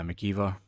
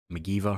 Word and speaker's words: McGeever: charts um and uh mckeever mcgeever i don't know why i said his name wrong man mcgeever uh top